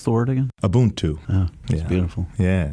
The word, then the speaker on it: Ubuntu: we that's really special so how do you pronounce Thornton a boon to beautiful yeah it's a Zulu term and you